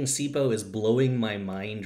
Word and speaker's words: CPOE: So I'm just going to tell y'all a really quick story about CPOE for all of you coming in here from American Football Analytics Twitter. I pronounce that CPO, completion percentage over expected.